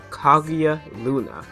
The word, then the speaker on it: Kaguya Luna: Oh, I butchered that. Kaguya Luna.